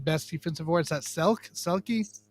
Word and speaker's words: Selke: Is that Selke? Selke trophy.